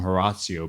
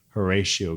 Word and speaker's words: Horatio: to lead the assembly we called him heratio but his actual name was Horatio Gates he was a